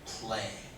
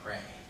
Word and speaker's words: play: with and also uh the word play you were saying pray they like to is